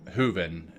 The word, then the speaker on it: Hooven: and uh in the book The author um hooven is pronounced hooven Melvin yeah she talks about you know what